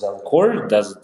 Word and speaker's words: Zelcore: Yeah, Zelcore. Did I pronounce it right?